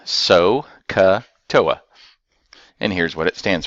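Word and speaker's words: SOHCAHTOA: that's the sine cosine tangent and this is pronounced so cut OA and here's what it stands for I'll put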